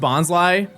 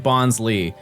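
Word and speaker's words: Bonsly: It's pronounced Bonslai. I always pronounce it like Bonsley. I believe it's just a reference of Bonsai.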